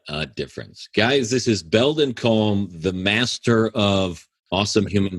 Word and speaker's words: Belldon Colme: people who can't spell Belldon Colme. It's Bell, like a bell that you ring, Don, Don of Spain, Colme is silent.